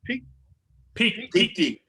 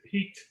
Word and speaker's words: PeakD: How's it pronounced? Peak D. Yes. People say peaked. I say peaked.